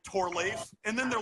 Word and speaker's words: Torleif: People butcher my name all the time because it's got L-E-I-F, and we're trained to think, oh, well, that means leaf. And also, we're also trained to think like I before E, except after C, except mine is E-I, and that is pronounced a hard A sound. So my name is Torleif, not Torleaf, but I let it slide.